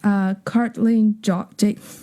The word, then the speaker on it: Karlijn: In the Netherlands, we would say Karlijn. Oh. But the IJ sound is something very native to the Dutch language.